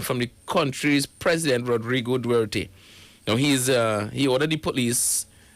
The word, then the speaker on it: Duterte: I pronounce it Duterte.